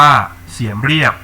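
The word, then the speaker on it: เสียมเรียบ: ที่ เมือง เสียม ราช หรือ ชื่อ ท้อง ถิ่น ออก เสียง ว่า เสียม เรียบ ห่าง จาก กรุง พนมเปญ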